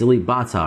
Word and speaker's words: Alip Ba Ta: It is Ba. He's freaking me out that he says Pa every time. It clearly is a B. It's Alip Ba Ta, right?